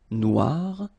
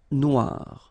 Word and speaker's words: noir: So bloun so it's quite funny because you will have to add this uh at the end of noir for the feminine form but then you don't pronounce it.